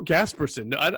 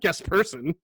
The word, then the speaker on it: Gasperson: that way it was it's michael gasperson it was not guest person well how would i